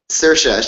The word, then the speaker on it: Saoirse: name again remind me saoirse she she when she was on the The Late Show with Stephen Colbert sheshe a handy tip is that it rhymes with inertia well I don't know